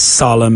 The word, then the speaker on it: solemn: It's not as solemn as you think. So there we go. That was today's pronunciation pitfall. Not too difficult, and there aren't many words in the English language that have that silent N.